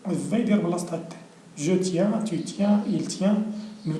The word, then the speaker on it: tiens: je tiens, tu tiens, il tient, nous tenons, vous tenez, ils tiennent. كاينه في nous و vous هو اللي تيرجع للاصل ديالو. الاخرين كاينه يا I-E-N, ça prononce ien.